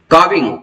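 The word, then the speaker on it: calving: हम क्या कहते हैं काविंग इसमें एल साइलेंट होगा काविंग का से क्या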